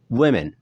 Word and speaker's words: women: Lalu kemudian selanjutnya ada ejaan spesial di sini, ejaan huruf O yang dibaca U pendek, yaitu women. Women. Women.